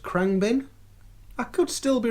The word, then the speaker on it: Khruangbin: So Beck, Dominic Fike, I believe that's pronounced Khruangbin.